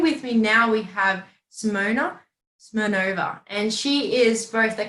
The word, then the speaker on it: Simona Smirnova: This way everyone can understand. But in Lithuania, it's pronounced as Simona Smirnova.